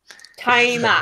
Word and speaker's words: Toma: Toma. Whatever. Toma. Yeah. It's like Tohma.